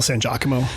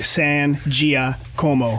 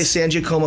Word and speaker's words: San Giacomo: you wines w-i-n-e-s okay San Gia Como people say Sanji Como cause I think of San Diego it's a diff it's